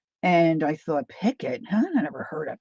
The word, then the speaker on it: picot: and then there's the picot. Now, I've always said picot. I watched a young gal, and she was saying picket. And I thought, "Picket?